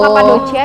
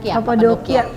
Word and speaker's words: Kapadokia: Oh, Kapadocia ya bacanya? Kapadokia.